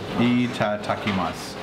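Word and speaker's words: いただきます: Itadakimasu. Close? Dakimasu. I tried. Enough. I will have to write it down. I apologize.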